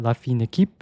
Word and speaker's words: La Fine Équipe: Yes, I did need to look up how to pronounce that. La Fine Équipe.